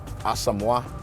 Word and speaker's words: Asamoah: So, first of all, people don't really realize my name is not really, like, it's pronounced kind of differently. Okay. It's actually pronounced Asamoah.